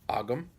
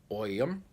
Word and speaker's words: Ogham: Now, some people pronounce that Ogham. I've heard people in Scotland pronounce it Oyam. No doubt there's a modern pronunciation. There's an Old Irish pronunciation. And there's got to be some sort of dialect differences as well.